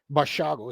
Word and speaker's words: Basiago: Now, Basiago was a child at the time according to his Bashago is how you pronounce it.